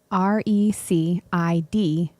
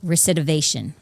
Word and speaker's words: recidivism: RECIDIVISM. Recidivation. Recidivism. Did you say TION? No, RECIDIVISM.